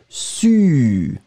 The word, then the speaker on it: su: Le deuxième, beaucoup plus étroit, su.